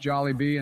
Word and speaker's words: Jollibee: First of all, it's pronounced Jollibee.